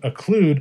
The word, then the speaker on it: occlude: open but when you occlude that parentheses rhymes with exclude they are unwelcome and